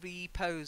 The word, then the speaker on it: repose: reposing oh yeah absolutely it's not like to pose and to repose something that you would stress more repose yeah so I reposed